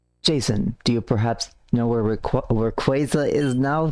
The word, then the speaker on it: Rayquaza: no clue as to Rayquaza's whereabouts Jason do you perhaps nowhere quasa is now sorry I'm trying to retrain my brain because that is the correct pronunciation of that legendary Pokemon it must be the